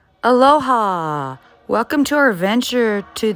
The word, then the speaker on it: aloha: to you guys but the only way to say allah is the short brief and warm and loving aloha can i tell you